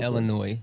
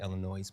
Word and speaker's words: Illinois: And and Illinois. I'm sorry, Chad. But I know I have a bad habit of saying Illinois, but Illinois.